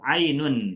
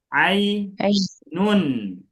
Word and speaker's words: Ainun: kita ada namanya Bu Ainun. Ah, nama Ainun. Nama Ainun itu di tanwin. Betul ya? Karena susunan ada tiga huruf ain, ya, sama nun. Nun. Nah, jadi dibacanya a nun bukan ainu.